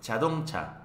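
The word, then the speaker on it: 자동차: Automóvil en coreano se dice chadongcha, así es como se escribe. Chadongcha, así es como pronuncia.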